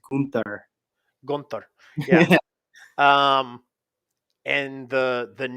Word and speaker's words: Gunther: Gunther, and the trademark You gotta say it right. It's as Gunther.